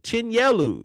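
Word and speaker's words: Chinyelu: So the loss that Florida took, Chinleu, Chinelu, Chinellu, Chinelu, Chinelu is how you say it.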